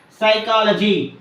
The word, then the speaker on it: psychology: letter K is silent psychology here the letter P silent p s y c